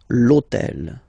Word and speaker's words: l'hôtel: starts with H, but remember that in French we don't pronounce H. Okay, so basically the first sound of the word is the vowel O.